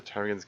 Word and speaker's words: ptarmigan: Can't hear the ptarmigans going in the bath because the P is silent.